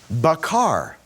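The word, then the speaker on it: בקר: Bakar. The kof is just a little bit harder sound.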